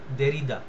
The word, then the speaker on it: Derrida: JACQUES, জাক, উচ্চারণটা হয় জাক, জাক দেরিদা, DERRIDA, দেরিদা।